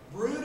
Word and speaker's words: brood: Brood of vipers. I pronounced it broad this morning.